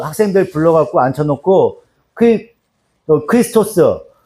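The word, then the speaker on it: Χριστός: 헬라어로 얘기하면 어떻게 얘기하냐면 크리스토스라고 읽어요. 크리스토스. 크리스토스라고 읽어요.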